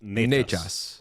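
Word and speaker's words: Nečas: So like Martin, the emphasis is definitely more on the nay. It's Natchez. Natchez.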